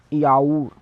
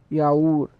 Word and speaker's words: yaourt: To the yogurt we will say yaourt, yaourt, YAURT, yaourt.